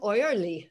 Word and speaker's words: Oerley: Oyerly, I'm not sure if I'm pronouncing your last name correctly, but, you have a question. I do, and that's the German pronunciation. So kudos to you. Hi, Dr. Chase, Yearly is the American way, so a little less interesting.